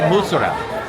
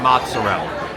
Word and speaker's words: mozzarella: said mozzarella because she it's not it's mozarella you say mozarella Mella Mella mozarella you say mozarella you don't say do not say mozzarella no I said mozzarella